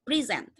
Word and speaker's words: present: Nah, the first one, ketika dua kata yang sama dan ditekan di first syllable, itu akan membuat dia menjadi sebuah noun. Dan ketika when the same words are stressed in the second syllable, it will become verb.